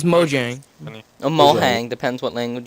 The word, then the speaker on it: Mojang: No, it's Mojang. A Mohang. Depends what language you want to moang. Mohang. It would be like a Mexican Mojang. It's Swedish. I'm pretty sure it's pronounced Mohang.